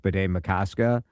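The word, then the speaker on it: Bde Maka Ska: But the way I remember it is it sort of has the cadence of Lake Itasca, Bidet Makaska.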